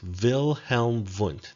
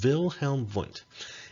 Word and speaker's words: Wilhelm Wundt: and his name is wilhelm vunt that's how you pronounce his name although i know that it begins with w's but it's pronounced wilhelm wundt and wilhelm wundt is